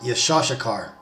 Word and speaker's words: Issachar: tribes of Israel namely of the tribe of isachar the name isachar is in Hebrew pronounced yashar and that basically means he is hired and